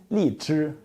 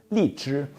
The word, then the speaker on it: 荔枝: Lychee makes it more understandable because in Chinese it's 荔枝, 荔枝. So the word lychee comes from the word 荔枝 in Chinese.